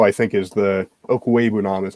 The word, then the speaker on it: Okwuegbunam: But between him, Fant, Albert O, I think, is the Okwuegbunam is how you say his last name.